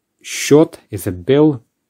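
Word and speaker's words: счёт: this before a meal short short is a bill just pay attention to the pronunciation it's different to the spelling and then in relation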